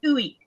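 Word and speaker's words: ueq: Yeah, and it's pronounced Uik.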